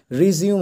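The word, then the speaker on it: resume: একে বলা হয় রিজিউম উচ্চারণটা কিন্তু রিজিউম হবে ঠিক আছে রেজুমে না কিন্তু রেজিউমে উচ্চারণটা হবে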